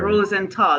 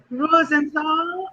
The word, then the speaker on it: Rosenthal: Rosenthal. Did I pronounce that correct? You Thank pronounced it you. wonderfully. I love it too. The purple, I love it. I did. Rosenthal.